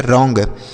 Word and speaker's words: wrong: WRONG, तो W silent होता है, R से पढ़ेंगे र, ONG को ओंग, तो ये हो गया रोंग। उसके बाद STRONG, तो ST